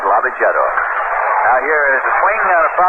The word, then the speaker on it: Lavagetto: Cookie Lavagetto is coaching at first. Cookie's name, of course, is pronounced variously around the major leagues by ball players. They call him Lavagetto, Lavagetta, all sorts of things.